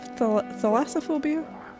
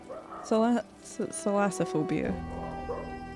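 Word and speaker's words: thalassophobia: We were talking about this yesterday about how um a lot of people have thassophobia. Salassophobia. Sometimes I say it wrong and say salassophobia and that's probably something very different.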